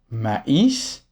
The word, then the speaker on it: maïs: Donc a + I avec un très se prononce a I et pas. Comme dans maïs ou taïwan.